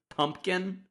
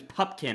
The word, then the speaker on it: Pupkin: were saying I thought his last name was pumpkin for the first 20 minutes of the movie